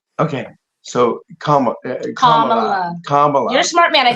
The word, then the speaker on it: Kamala: And in fact, Kamala is like a comma, Kamala.